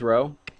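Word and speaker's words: ρ: the same Row in this case which one's row the P thing yeah you pronounce that row row is the distance from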